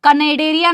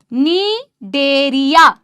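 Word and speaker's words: Cnidaria: सपोलो नीडेडरिया कनेडेडरिया नहीं है गाइस। नीडेरिया मेरे साथ में बोल रहे हो ना सीलेंट्रेटा बोलो या नीडेड एररिया बोलो सी साइलेंट है इधर कनेडेड एररिया नहीं है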